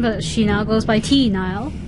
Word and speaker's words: T. Nile: She was Tamara Nile on Melodies in Mind, but she now goes by T. Nile. T. Nile. And Nile is spelled N-I-L-E, like the river.